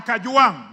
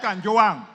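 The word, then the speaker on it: Kajwang: Speaker, first of all, pronounce my name properly. I'm not Gachagua. I am Kajuang, not Kanjuang.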